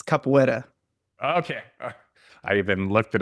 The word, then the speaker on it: capoeira: Yeah, it's capoeira. Okay. I even looked it up and it tried to pronounce it, and I was like, man, I'm